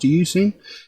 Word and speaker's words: Euzen: Now that's how I'm given to understand it's pronounced, Euzen.